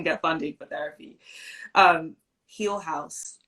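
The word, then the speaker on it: Heal Haus: funding for therapy um heel house um which is spelled here h-e-a-l and then space h-a-u-s and they're based in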